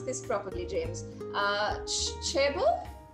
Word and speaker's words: chaebol: I'm not even sure how to pronounce this properly, James. Chebor? Chebor, yes.